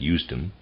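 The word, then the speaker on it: Usedom: that's a reader's aside that's spelled u-s-e-d-o-m I'm going to pronounce that eustom and the readers aside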